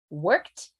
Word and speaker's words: worked: D played played played so the first one ignore the E go to the T second one ignore the E go to the D worked played emphasize the syllable